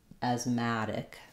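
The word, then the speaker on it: asthmatic: sounds a little bit the important thing to practice there is stressing on the ma syllable and one strategy that will help you do that is start with Ma so I would say madic asmatic asmatic our final uh vowel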